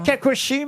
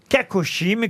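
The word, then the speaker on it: cacochyme: c'est- Vous connaissiez Kakoshim? Bah, bien sûr, oui, oui. Kakoshim. Ah, c'est un joli mot. Et ça s'écrit C-A-C-O-C-H-Y-M-E, Kakoshim, qui est d'une santé fragile, surannée, sans force.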